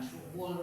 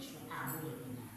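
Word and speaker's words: شعب: Makanya ada kitab Syubul iman ada yang membaca syuabul iman. Ya, kalau saya mama itu membacanya bukan suul tapi suabul artinya apa?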